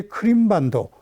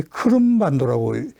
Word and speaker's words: 크름반도: 요 밑에 크림반도, 이걸 우리 크름반도라고 이제 부르는 게 맞다는 말씀 드렸습니다만, 면적은 60만, 한반도가 21만 제곱킬로미터죠.